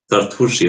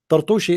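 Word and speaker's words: Turtushi: I don't think his name is Tartushi, but Muslims always they pronounce the names wrongly.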